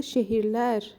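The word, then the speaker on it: şehirler: شهیر لار چرا گفته شهیر لر و یا اینکه اگه به تلفظ من دقت کنید من نمیگم شهیر لر شهیر لر نمیگم درست ا نوشته ولی شهیر لر میگم تلفظش در نظر بگیرید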